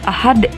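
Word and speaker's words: أَحَد: Kemudian contoh berikutnya, Qul huwallahu ahad. Nah, ini contoh qalqalah kubro. Dal juga salah satu huruf qalqalah, nggak dibaca ahadun ya, tapi dibaca ahad.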